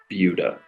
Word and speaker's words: Buda: first talk about the location of bua so bua is the first suburb to the south of Austin and first thing you should know is it's spelled Buddha b u d a but it's pronounced bua so that's something that trips up a lot